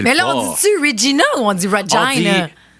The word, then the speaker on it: Regina: Puis on s'est rendu à Regina. Oui. Il faut prononcer Vina comme vagina. Oui, comme Regina George.